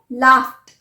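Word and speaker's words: laughed: pronounce किया ट help अब लाफ एल ए यू जी एच अब आप बोलेंगे कि जी एच है मैंने तो जी एच लिस्ट में बताया ही नहीं था तो मैंने पहले भी कहा है कि लेटर्स पर मत जाइए sound listen the sound so what is the last sound फ लाफ सो लाफ्ट लाफ्ट लाफ नहीं लाफ्ट हम बोल देते हैं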